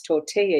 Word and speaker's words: tortilla: And sometimes the understanding in language, as far as, with what I had as a discussion, no, it's tortilla. You don't pronounce the double L.